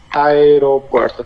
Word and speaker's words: aeropuerto: this deep tongue, and it's pronounced as the two letters separated, so it's AE. But we link it a little, no? So you can hear, if we talk pretty fast, we could say aeropuerto.